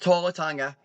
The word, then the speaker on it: Tala Tonga: For the size of Tanga, or however you say his name, I've just botched it probably. No, you were correct. Tala Tonga.